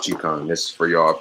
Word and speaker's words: Qigong: It's actually pronounced Qigong.